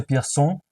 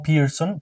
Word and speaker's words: Pierson: El maestro José Eduardo Piersón, que antes de que me critiquen, si se pronuncia Pierson porque su padre era francés y no Pearon porque no era apellido en inglés.